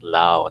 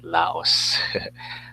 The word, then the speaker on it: Lao: in thailand and lao they pronounce it lao not laos okay so let me